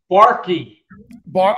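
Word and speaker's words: Barke: It's Barky. You pronounce the E. Yes, it's a long E, Barky.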